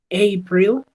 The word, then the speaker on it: April: January february March april cierto error común porque nosotros como hablamos español tendemos a a pronunciar de manera diferente la Entonces en este caso sería a april cierto el mismo sonido de la a lo encontramos por acá May april May june